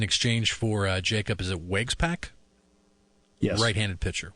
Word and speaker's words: Waguespack: It's in exchange for Jacob, is it Waguespack? Yes. Right-handed pitcher, Waguespack.